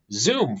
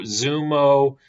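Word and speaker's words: Xumo: of Philo, and Zumo, which I guess this is pronounced Zumo. My apology. I've been pronouncing it Zoom for the last year.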